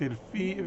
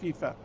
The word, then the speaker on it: فيفا: تحذيرا فقط إذا اعتبرت الفيفا الفيفا الفيفا الفيفا النطق الصحيح بتاعها فيفا أن البيان الرسمي أو